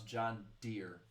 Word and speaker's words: John Deere: He did not know how to pronounce John Deere. Oh yeah, that was a long time ago. You know how he pronounced it? Deary. I said John Deary.